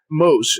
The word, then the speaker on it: Mohs: Mohs, and it's spelled Mohs, but it sounds like the Mexican food chain, Mohs.